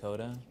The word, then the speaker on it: Kota: uh just your full name and how you spell it um my full name is carthic Kota carthic Joshua Kota uh k a r t